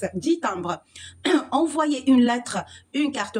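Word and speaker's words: dix timbres: معلومة بس كده على السريع الإكس في الأعداد لما بيكون قدامها une consonne الكلمة التانية مش بننطق الإكس 10 تامبر.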